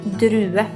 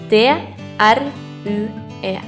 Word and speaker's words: drue: a grape in Norwegian a grape is called drue in Norwegian it is sped d r u e try it drue This is the color red